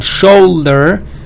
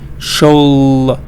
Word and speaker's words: should: Next one, shoulder, should, sailor, slow. Here you have the low, slow, sailor, shoulder. But here it's like could, should. So it is silent.